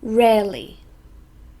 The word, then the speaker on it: rarely: event or a situation rarely this is an adverb so two syllables we stress the first one rarely and it means not